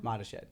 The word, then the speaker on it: Mottashed: So the quickest way to remember how to spell it is Mott, like the applesauce, the letter A, and shed, like the one in your backyard. There you go. Mottashed. He actually said when I came on, say it like Mottashed.